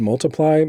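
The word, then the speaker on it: ×: anniversary of his album Wikipedia tells me that it's pronounced multiply um he can eat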